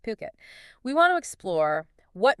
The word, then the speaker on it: Phuket: And remember, that's pronounced Phuket.